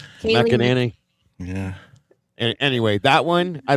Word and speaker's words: McEnany: Kaylee McGinnity.